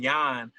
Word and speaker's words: Jon: Funny thing about that too is my birth name is actually pronounced Jan. So is yeah. So the funny thing about that is all through school when substitute teachers would call me John, like the whole class would, it's Jan, like I'm saying.